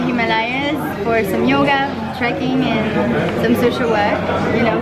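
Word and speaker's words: âne: An.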